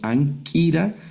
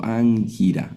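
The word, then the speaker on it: ἄγκυρα: No leemos anquira, sino angira.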